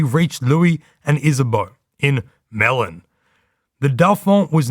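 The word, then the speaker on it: Melun: Paris and retreated to a place that you assume in French is pronounced Melo but in Australian English would be melon about 40 km southeast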